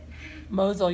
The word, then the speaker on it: Mosul: camps are located around 20 kilometers east of Mosul Mosel you said it right and then this is